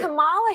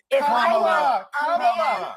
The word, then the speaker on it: Kamala: So pronounce her name right. Kamala Harris. Kamala.